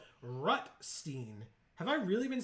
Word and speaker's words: Rutstein: Old Rustine. Rutstein.